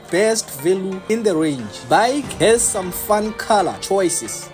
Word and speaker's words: BAIC: Jeep Wrangler did you know that bike is pronounced as bike b i k e was found in 1958